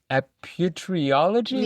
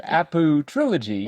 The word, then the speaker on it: Apu Trilogy: of respect, you look at that and say, Aputriology? Yeah, That that's how I doesn't, pronounced it. as opposed to Apu Trilogy.